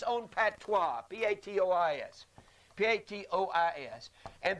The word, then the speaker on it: patois: PA T W a that is a French word he said they all had their own dialect or patois which in most cases